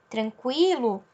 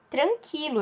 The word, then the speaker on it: tranquilo: Tranquilo, eu tenho Q e o U acompanhados do I. Eu não falo tranquilo, eu falo tranquilo, ok?